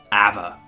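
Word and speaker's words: Éabha: you're very close okay it's a father yeah father father so it's ava ava yeah ava ava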